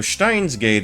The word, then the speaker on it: Steins;Gate: Well, he says Stein He says Stein. So Stein's gate is perfectly acceptable. A perfectly acceptable pronunciation.